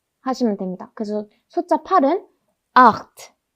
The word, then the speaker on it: acht: 그 다음 숫자 8. 숫자 8 같은 경우는 체하 발음 지난 시간에 했었죠. 아, 오, 우 뒤에 체가 오면 어떻게 소리가 난다고 했죠? 아, 오, 우 이렇게 소리가 난다 했습니다. 그래서 여기도 아 이렇게 읽으셔야 합니다.